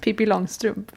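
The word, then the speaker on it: Pippi Långstrump: Pippi Longstrump.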